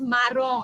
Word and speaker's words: marron: Chestnut brown is dark brown, तो dark brown is मारोन, ये मरून नहीं है, याद रखो, इट्स मारोन, dark brown, MARRON। Okay, मारोन है, मरून नहीं है, बी वेरी केयरफुल।